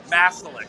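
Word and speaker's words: Maselec: Mercury, Mesa Rock Select, Rupel, Little Labs, Masalek. Masalek, that's how you say it.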